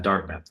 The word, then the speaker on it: Dartmouth: you you nailed it it's Dartmouth it's not Dart mouth it's Dartmouth yeah almost like the O in mouth isn't there Dartmouth right Dartmouth okay